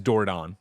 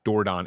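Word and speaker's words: Dordogne: door gone I call it the way they pronounce it in one of the things is dordon dordon it's French this is a town in uh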